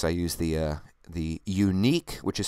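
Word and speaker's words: Yuneec: who are curious I use the uh the unique which is spelled y u NE C uh q500 which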